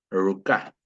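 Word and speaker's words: ruka: No, no se dice ruca, se dice ruca, con r. Acostumbrémonos a que la R o la R no existe, nunca. Es ruca, ruca.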